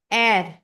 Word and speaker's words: Er: English का जो आर है वो जर्मन में हो जाएगा एर। English are is pronounced as एर इन जर्मन।